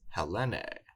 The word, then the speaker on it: Ἑλένη: It's Hellene or Helen.